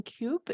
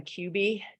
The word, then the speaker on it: Kube: name here is Cube. If that's not correct. Please introduce yourself, and you have 2 min. Please go ahead. Yeah, my name is Cubby still spelled Kube, but Pronounced Quebec, I wanna thank everybody for all their time.